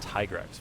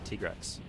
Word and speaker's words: Tigrex: for me I guess my whole life I pronounced it tigrex my side they actually told me at tika while we were recording this they said yeah it's actually tigress cuz I guess this